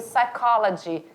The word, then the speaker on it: psychology: O P, ele é mudo. Então, eu leio psychology.